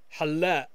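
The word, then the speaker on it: حلاق: A barber in the masculine singular form would be halla, halla, halla. Notice that the Q is not pronounced.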